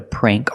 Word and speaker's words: prank: mean that's a prank and it has the long a sound prank you can say it different ways you can say he played a prank on me with the